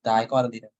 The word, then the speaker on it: dicotyledon: I'm asking, is the C-grade tree monocotyledon or dicotyledon? Remember, yes. Look at your template. What does it say? Look at the leaves. It's a dicotyledon. That's how you pronounce it. Dicotyledon.